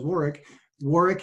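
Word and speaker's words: Warwick: Glenn understands as well as War wari has a silent W in the middle so on LinkedIn it's WWI c k that's where you'll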